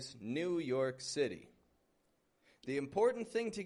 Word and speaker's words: New York: I'm going to New York, stressing the York.